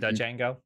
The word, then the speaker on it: Django: Uh, it's pronounced Django.